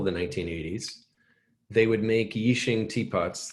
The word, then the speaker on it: Yixing: And 80s clay is in the 80s, they call it 80s clay because up until the 1980s, they would make Yixing teapots. It's spelled Y-I-X-I-N-G, and it's the region of China where these come from originally, and now it's the name of the clay.